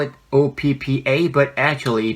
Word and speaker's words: oppa: Your older brother is oppa. Yeah, but there's no other way but to spell it O-P-P-A, but actually PP does not sound like it does in Korean.